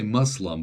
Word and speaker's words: Muslim: That, like, today we say Muslim, but back then they said Moslem with an O instead of a U.